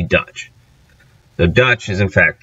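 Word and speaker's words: Duits: Now, German in Dutch is Deutsch, or D-U-I-T-S, pronounced essentially Dutch.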